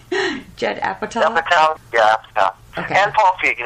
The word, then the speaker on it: Apatow: Apatow.